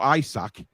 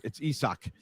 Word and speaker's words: Isak: not isaac or isaac i've heard many people pronounce it isaac as in chris isaac it's not it's isak um but there you